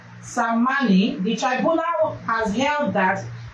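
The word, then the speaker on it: Tsammani: In an over 11-hour verdict being presided over by Justice Haruna Samani, I think the T is silent, Samani, the tribunal has held that the petitioners, former Vice President Atiku Abubakar and Mr.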